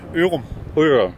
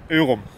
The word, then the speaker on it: Ørum: name it's it's it's it's in D It's pronounced urum urum yeah it's a tough one you know that